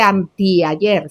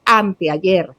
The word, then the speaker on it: anteayer: No se dice antiayer, se dice anteayer.